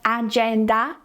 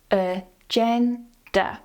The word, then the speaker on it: agenda: The same with "agenda". It's not "ah-gen-dah". "Uh-gen-duh". The stress is on the second syllable here, "uh" and "duh" at the end are both weak, and here they use the schwa - "uh-gen-duh", "agenda".